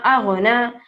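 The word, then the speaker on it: أغنى: نون کے ساتھ جو یا ہے وہ نہیں پڑھا جائے گا, اس کے اوپر جو چھوٹا سا الف آپ کو نظر آ رہا ہے اس الف کو ہمیں تلفظ کرنا ہے.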